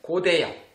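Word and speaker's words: 고태양: Quand le rond se situe en dessous, on le prononce comme NG. Nasal. Donc ça se prononce Yang.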